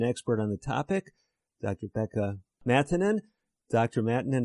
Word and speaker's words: Pekka Maattanen: So let us hear the correct Finnish pronunciation of your name. It's Pekka Maattanen.